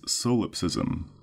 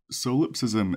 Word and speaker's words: solipsism: be known to exist solipsism is spelled s o l i p solip s i m sism solip ISM so yes this is the